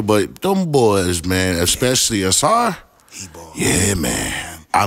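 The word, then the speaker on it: Ausar: Asar. Asar.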